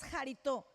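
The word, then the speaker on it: χαριτόω: La palabra aceptos en el original griego es jarito, jarito, porque tiene acento en la O. Es jarito.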